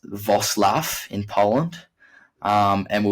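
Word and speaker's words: Wrocław: drove down um to rock law or I think it's pronounced vosl in Poland um and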